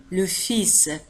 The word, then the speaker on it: fils: الكلمة تنتهي ب ls، لكن ال لا تنطق. نقول le fils.